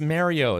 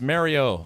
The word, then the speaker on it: Mario: He's like, it's pronounced Mario.